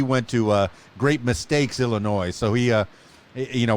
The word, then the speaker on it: Illinois: omar mcclinton in chicago illinois and i i did say it properly because there's no noise in illinois so uh yeah chicago